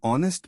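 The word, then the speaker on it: honest: आने whale article traps silent H well words an ऑनेस्ट मैन एन आर एन ए an honour इन सब में H silent है vowel sound है यू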